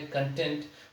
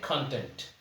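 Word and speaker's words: content: तो ऊपर वाले का जो प्रोनाउंसिएशन है वो तो है कंटेंट, और नीचे वाला है कंटेंट.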